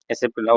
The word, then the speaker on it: SAP: ஸோ இதுதான் வந்து எஸ்ஏபியில் ஒரு விதமான ஓவர்வியூ. ஓகே. அடுத்து நம்ம பார்க்கணும்னா, இது மேபி நிறைய பேர் இது இது கேள்விப்பட்டிருப்பீங்க. ஃபார் எக்ஸாம்பிள் ஒரு இன்ஸ்டியூட்லாம் சொல்லுவாங்க, எஸ்ஏபி வந்து நீங்கள் சாப்ன்னு சொல்லக்கூடாது, எஸ்ஏபின்னு தான் சொல்லணும் அப்படின்னு சொல்லுவாங்க.